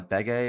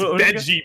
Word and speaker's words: Bege: try to find a Bege or a Beige. Bege, oh my god. I gotta say that right now. It's you're in your head. It's Beji, buddy. Oh, Beji. It's Beji. Beji, sorry.